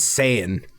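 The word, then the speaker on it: Sayan: and d no s-a-y-a-n zion mountain that is saiyan i know it's spelt saiyan oh my god i just picture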